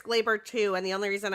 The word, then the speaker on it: Gleyber: Well, first of all, I think it's pronounced Glaber because John Sterling, whenever he hits a home run, calls it Glaber Day. So I think it's pronounced Glaber, but that's besides the point.